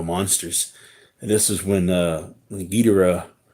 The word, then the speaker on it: Ghidorah: Is Destroy All Monsters, and this is when Guidera or Ghidorah or however you want to pronounce it, but I think most people pronounce it Guidera, when he lands on